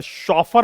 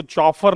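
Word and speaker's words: chauffeur: शॉफर बोलते हैं इसको, चॉफर नहीं, शॉफर।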